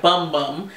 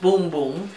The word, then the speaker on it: Bum Bum: company that makes the boom boom gream it's spelled b m bu M like bum bum but it's pronounced boom boom everybody's going crazy about